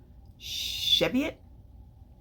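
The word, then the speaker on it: Cheviot: have have some undyed cheviet I think is how it's pronounced c h e v IO T because I read somewhere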